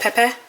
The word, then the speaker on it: pepper: Then she got me, it's pepper, but you pronounce it like pepe, which it's basically like P-E-P-P-A. You don't say the E-R.